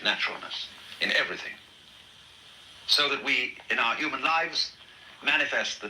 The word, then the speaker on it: wei: So what everybody wants to know then is how to acquire that great naturalness in everything, so that we, in our human lives, manifest the Tao.